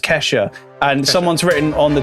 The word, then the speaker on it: Kesha: him um well done keisha keisha keisha kesha kesha since we've been pronouncing her name wrong the whole time it's it's just kesha and someone's written on